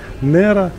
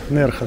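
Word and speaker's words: Nerja: этот городок называется нерха по-моему так нужно эту букву произносить Я думал Нера нерха Да там такие хоромы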